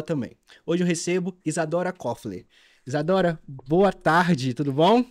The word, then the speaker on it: Coffler: É Isadora Kofler. Kofler. É como se fosse um circunflexo.